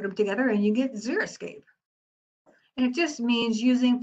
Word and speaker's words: xeriscape: as much water and to help you remember how to pronounce it because everybody mispronounces this word just think about these terms so xeric environments are deserts xerophytes are desert plants xerox now that's one you should remember xerox that's a dry copy is your escapes those